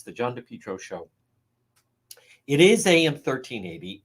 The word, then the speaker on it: DePietro: No, meaning no vowel I. It's not like Dupree. It's DePietro. Think of just the letter D, DePietro. DePietro is the easiest way to pronounce it.